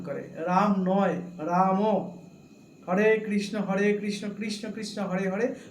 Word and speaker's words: হরে: হরে কৃষ্ণ কৃষ্ণ কৃষ্ণ হরে হরে, হরে রাম রাম রাম হরে হরে। সঠিক উচ্চারণটা এই।